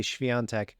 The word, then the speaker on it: Świątek: saying it right now I say shiant but their pronunciation I forget how they said it uh but it was way different but that just popped